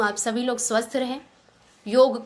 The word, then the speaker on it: योग: तो जब आप योग को योगा कहेंगे, इसलिए आज योगा बिजनेस ही बन गया है। और जब हम योग सही उच्चारण करेंगे, इसका सही अर्थ समझेंगे,